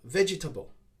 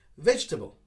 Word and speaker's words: vegetable: sounds to number one we hear this a lot vegetable vegetable again people try to pronounce each syllable of the word but we make it a little bit shorter of course similar to comfortable vegetable vegetable i need to